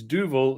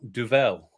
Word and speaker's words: Duvel: only have an answer it's duval not duvel right okay which means i've been saying it wrong for years but you know that's